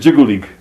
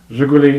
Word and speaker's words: Жигули: Let's start with, I'm going to mispronounce it, Zhigulik. Жигули.